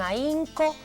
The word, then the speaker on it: ahínco: Fíjate bien, la primera oración dice: el joven estudia con ahínco todos los días. Ahínco, fíjate cómo se escribe, lleva una H intermedia y va acentuado, ahí se produce un hiato.